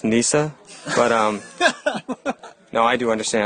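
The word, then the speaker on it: Kneesaa: And, Jared, I put the dang Princess Kanisa on the new intro just for you. Now, do you understand that I love Ewoks and I accept them? It's pronounced Nisa, but, no, I do understand.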